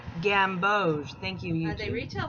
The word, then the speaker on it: gamboge: One's cadmium yellow deep hue and one is a gamboge hue. It's pronounced gamboge.